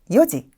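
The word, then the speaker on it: 四時: 단어에서 살펴보도록 할게요 자 4시라고 할 때는 여지 여지 시험에서 자주 출제가 되고 있는데요 보통 숫자를 외우던 학생분들께서 내실을 말할 때 욘지라고 말해 버리는 경우를 자주 보게 됩니다 여지라고 발음해 주셔야 해요 자 두 번째는 4일이란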